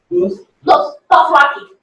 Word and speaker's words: Dothraki: How do they pronounce this language? Dothraki.